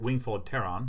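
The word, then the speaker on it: Wingfold Pteron: Wingfold Pateran. I believe that is pronounced Wingfold Terran, but that's fine.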